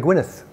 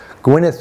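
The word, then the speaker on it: Gwynedd: I was to research Gwyneth there was actually a place in Wales spelled Ed at the end um it's pronounced Gwyneth in Welsh and it was a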